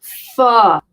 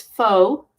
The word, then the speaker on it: pho: is going to make pho, which is faux or pho. You're supposed to say it like F-U-H instead of P-H-O, which I have to say is probably, when it's made right, probably my favorite dish.